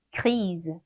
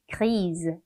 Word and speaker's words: grise: 여성형 뒤에 을을 붙여주다 보니까 발음이 좀 바뀌어요. 읽어볼게요. grise, grise 이렇게 되죠.